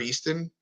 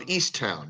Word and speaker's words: Easttown: But like these dramas, like Mayor of Easton. Did you see that? Yes, Jeremy Renner's prison show. Certainly. No. That's the mayor of. Oh. No, I might have said it wrong. Mayor of Easttown.